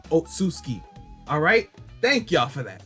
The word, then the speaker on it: Otsutsuki: I gotta say Ot, then Sutsuki, Otsutsuki.